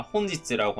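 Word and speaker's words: 本日: 추가적으로 여러분들이 이제 필기를 해 놓으시면 좋은 게 오늘을 격식 있게 말할 때는 나와 있는 내용이 아니라 혼지츠라고 하는 표현을 쓸 때가 많고요.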